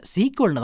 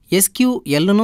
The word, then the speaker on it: SQL: ஆனா நம்மளோட தினசரி வாழ்க்கையில இதை சீக்குவல்னு தான் சொல்றோம். அதனால நாம ரெண்டு வகையிலயுமே உச்சரிக்கலாம். எஸ கயூ எல்னும் சொல்லலாம் சீக்குவல்னும் சொல்லலாம்.